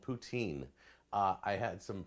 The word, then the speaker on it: poutine: heard a different pronunciation I've never heard anybody say it any other way than poutine so this right here doesn't this next bit the French call it putsin puts scene put scene